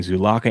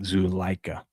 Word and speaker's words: Zuleika: I was saying Zulaka and Zuleika, but Zuleika.